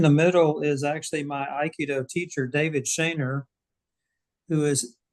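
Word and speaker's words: Aikido: Um, did I pronounce that right? Uh, Iikido. Iikido. Yeah.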